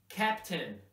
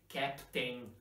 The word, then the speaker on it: captain: a word for example a I and is pronounced in captain never say captain that's what some of my students say sometimes